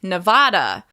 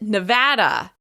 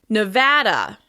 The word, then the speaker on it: Nevada: You may hear Americans from other parts of the country say Nevada. Nevada. But locals pronounce it Nevada. Nevada with stress on the second syllable. Nevada, Nevada, Nevada.